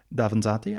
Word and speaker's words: Davanzati: I always mispronounce it. Davanzati.